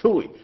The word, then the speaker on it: Toohey: Notice that Lois Cook in the story who says Toohey rhymes with hooey, fooey, cooey. Yeah, it's like fooey. Yeah, it is.